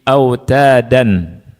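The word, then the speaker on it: أوتادا: Wal jiba itu berapa harakat? Dua. Wal jibala bala au ta da. Harus segitu ya. Jadi harus seimbang dua harakatnya.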